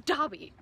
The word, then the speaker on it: Dobby: make fun of um dobby because before the show was released everyone thought his name was yeah dabby were like oh my god no and apparently it's dobby of all things that's